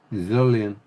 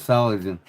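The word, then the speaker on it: Solingen: I'd like to I'd like to check out most people don't even know how to pronounce the town in Germany, right? Zillian. Everybody says solen.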